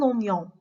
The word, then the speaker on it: oignon: ça va être prononcé une guitare، une guitare. وصلة. un oignon، un oignon، un oignon.